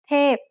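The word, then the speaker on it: เทพ: read it it's t tape means an angel tape is a falling tone now let's write it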